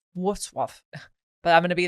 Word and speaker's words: Wrocław: And then some people try to say, oh, Wrocław. And that's not how you say it. It's like Wrocław.